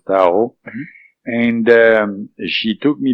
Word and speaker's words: Thao: So, Tao, you have to remember the name is Thao, we pronounce Tao.